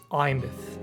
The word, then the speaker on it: Aemeath: Oh, by the way, if you're having trouble pronouncing her name, it's just Imeth.